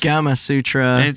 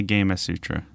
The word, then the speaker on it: Gamasutra: it that I used I said gamma Sutra I thought it was gas Sutra like Kamas Sutra but it is apparently gam Sutra yeah he's really [